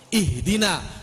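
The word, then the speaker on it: اهدنا: Nuh Dina bukan nasta'inu ihdina itu Hamzah washol bunyi Kalau di awal doang ihdina Kalitengah nasta'inuhu Dina Hamzah washol enggak bunyi ditengah Kenapa nggak bunyi ya emang begitu cara baca orang-orang Arab Hai kan orang Indonesia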